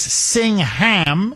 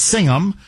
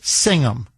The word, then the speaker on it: Singham: I guess singing ham if you want to just, you know, the full uh if if you want to uh uh phonetically just pronounce it, but it's Singum.